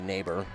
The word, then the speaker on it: Nieber: Meanwhile, swinging and missing is Hannah Nieber. Or Nieber? Neighbor? I think it'd be Neighbor. That's how you pronounce it. Spelled close to neighbor, but just a little bit different.